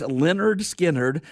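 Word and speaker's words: Lynyrd Skynyrd: Classic Albums Live perform Leonard Skinnard, pronounced Leonard Skinnard.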